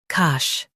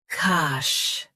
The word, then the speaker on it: cache: cache Both US and UK have the same pronunciation of this word. Say cache with a soft sh. cache cache Say cache with a soft sh.